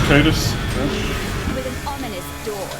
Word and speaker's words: Titus: It's pronounced Titus.